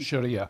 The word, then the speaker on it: Sharia: you're talking about let's start with Sunni Shia sharah is that how you pronounce it Sharia Sharia caliphate Jihad and salafism so we got